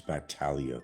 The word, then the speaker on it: Batalia: It's Batalia by the way. If you're going to use my last name at least say it right.